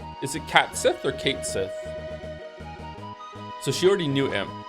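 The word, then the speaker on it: Cait Sith: So it's Kate Sith. It's not Cat Sith. Everyone I knew said it was Cat Sith, and they would call them Cat Sith.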